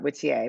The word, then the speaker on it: Whittier: So this little town, and you say in your acknowledgments that there's a Whittier, Alaska, or what do they pronounce that? Whittier, but that was sort of the inspiration for this.